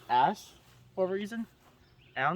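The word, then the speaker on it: æ: They have this little marker, which is an A&E put together. It's pronounced ash for a reason.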